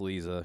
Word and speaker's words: Liza: so funny Lisa Trager spelt liza but pronounced Lisa she's Russian whatever and